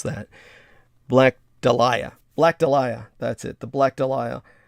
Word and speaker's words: Dahlia: about the black dahlia or how do we pronounce that black delia black delia that's it the black delia not not enough